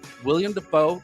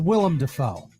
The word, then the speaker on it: Willem Dafoe: names like Halle Berry William Dafoe Lance Riddick and Lawrence Fishburne damn it Todd all right Powers his name's Willem Dafoe okay if I pronunciation